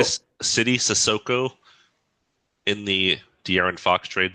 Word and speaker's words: Sissoko: I think it's Sissoko. Um, Sissoko, thank you. but that was fine. Thank That you. was a fine pronunciation. Sissoko.